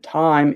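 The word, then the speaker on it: thyme: And time is pronounced the same as t i m e.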